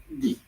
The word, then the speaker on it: dix: And in French, that's pronounced D.